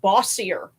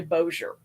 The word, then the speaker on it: Bossier: where I grew up, it looks like Bossier when you see it, but it's actually Bossier. Yeah. So yeah, a lot of really weird names. People that are familiar with European French will also mispronounce it as Bossier.